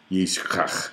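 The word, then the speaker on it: יצחק: And this name is almost unpronounceable in Hebrew. Yishkach.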